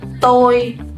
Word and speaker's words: tôi: So the first word, you will pronounce it tôi.